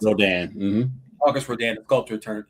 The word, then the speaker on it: Rodin: And I always say his name wrong, but it's Rodin, I believe is how you pronounce it. Rodin.